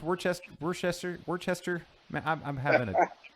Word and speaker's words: Worcester: So, Wormtown Brewery in can you pronounce Worcester? Man, I'm having it's hard. Worcester. Worcester.